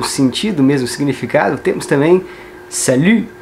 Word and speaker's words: salut: Salut, você tem que fazer a boca do U, mas tentar pronunciar um I no final para sair esse som aqui de salut. E esse T não é pronunciado.